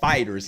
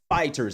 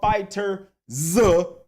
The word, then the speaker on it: FighterZ: Yes, and it is pronounced Dragon Ball Fighterz. Not Dragon Ball Fighterz Z. Not Dragon Ball Fighter Z. Dragon Ball Fighterz. Just basically, it's a pun with the Z thing.